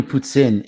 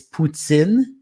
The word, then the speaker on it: poutine: Just to give you an example, the way we pronounce it down here, it's poutine. Mm-hmm. In France, they would say poutine.